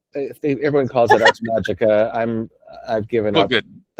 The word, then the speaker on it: Magica: And I'll say I pronounce it Magica now. It's supposed to be Magica because it's classical Latin rather than Church Latin.